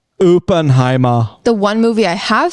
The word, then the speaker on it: Oppenheimer: It's pronounced Oppenheimer.